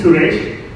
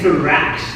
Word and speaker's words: Suresh: wrong all the time it's actually suresh and you know they keep saying so rash it's rash it's rash but it's